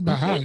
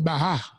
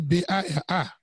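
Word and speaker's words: ברא: Frère Philippe, c'est pas Baal. Il dit Baha. B-A, il était précisé, B-A-R-A. Baha. OK, ça se prononce comme ça en hébreu.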